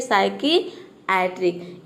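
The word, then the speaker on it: psychiatric: सकते हैं साइक एट्रिक इसमें भी देखिए पी एस एक साथ आया है यह देखेंगे कि ज्यादातर वर्ड के शुरू में आएगा तो यहां पे हम पी को नहीं प्रोनाउंस कर रहे प का साउंड नहीं आ रहा है देख सकते हैं मतलब कि क्या यहां पे पी लेटर साइलेंट है तो अब देखते हैं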